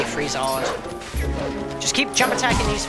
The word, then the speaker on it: Freezard: If you get frozen, just mash buttons, do not target that massive Freezoid, or Freezard, however you pronounce it. I'll say Freezard.